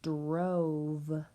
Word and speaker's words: drove: My pattern, 1 vowel, 1 consonant, and a silent E at the end.